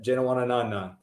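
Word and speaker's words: Janewattananond: the best name in the field with jazz jana wanna non-none they're at uh seven under is that how you say it that is how you say it jenna wanted none i had to look up the phonetic uh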